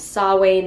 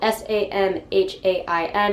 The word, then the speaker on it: Samhain: is halloween in paganism it is known as sawwain that is spelled s-a-m-h-a-i-n it is not pronounced samhain it is sawwain